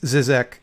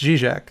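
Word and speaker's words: Žižek: I always have to correct myself because I read it as Zizek 10 times out of 10. And then I have to remind myself, no, you do know how to pronounce that word. It's Zizek.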